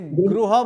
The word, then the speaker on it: गृह: अक्षर सीखना है नहीं हम लोग ग ग बोलते हासे गह बोलिए गृह बोलिए लेकिन ग्रह कहीं नहीं आता है हा गृहम ग गृहे गृहानिर्माण ग्रह नहीं बोलना है उच्चारण सुधारना है ग